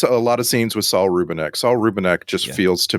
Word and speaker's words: Saul Rubinek: I always say his name wrong. What was it again? The author. Saul Rubinek. Saul Rubinek.